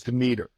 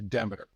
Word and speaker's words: Demeter: The correct pronunciation is Demeter, the European pronunciation of the Greek goddess of agriculture.